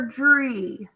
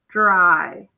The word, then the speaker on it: dry: There's only one syllable, so I know it's accented. So I believe it's going to say I. Let's try though. Dry or dree? Dry.